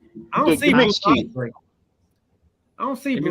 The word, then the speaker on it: Aundray: But it's spelled AUNDRAY. Bruce Andre. AUN. Okay. AUNDREY. DRAY. AY. Okay. He's spelling Andre.